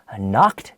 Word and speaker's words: knocked: you the thief was knocked down to the ground on the spot jose dangchao starts with a k the k is silent okay so knocked down